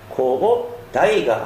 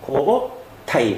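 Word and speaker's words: 交替: 최자를 대시하는 환자이기 때문에 발음은 코오 다이가 아닌 코오 타이 가 됩니다 흔히 막야 헷갈리기 쉬운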